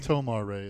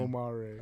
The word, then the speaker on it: Tomar-Re: Anyways, Sorry, Tomar-Re is how you say that guy's name. Tomar-Re.